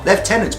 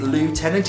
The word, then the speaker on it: lieutenant: is leftenant of Inishmore leftenant probably one of the most debated words in the British in the kind of English language is it leftenant is it lieutenant it's written one way pronounced another are you American are